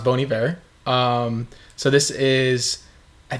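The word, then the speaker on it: Bon Iver: uh first of all it's pronounced bony bear um so this is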